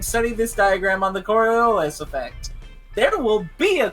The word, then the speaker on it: Coriolis: turn to page 318 and study this diagram on the Coriolis effect.